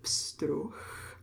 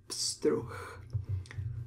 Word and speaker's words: pstruh: We pronounce the CH CH sound at the end of the word pstruh. H is voiced and it becomes a voiceless sound at the end of a word. Pstruh.